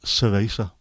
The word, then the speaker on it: cerveza: And I had to try and remember that they don't pronounce C as th. So it's just cerveza. No, that doesn't sound right. It's cerveza.